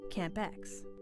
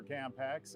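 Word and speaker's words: CAMP2Ex: monsoon processes philippines experiment camp x the two is silent that's just a joke but the acronym that's serious this project has implications for millions of people i'm the program scientist for camp x and while i'm here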